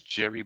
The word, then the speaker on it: Gerie: So her name is Jerry Bauer, and it's spelled Gerie.